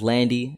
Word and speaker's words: LVNDIE: stuff man but once again my name is Landy AKA living die it's spelled LV n d i e you can